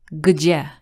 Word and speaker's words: gdzie: Gdzie? Gdzie? So this G, G sound is kind of similar as in the word jeans. G. G. G. Like in the word gdzie.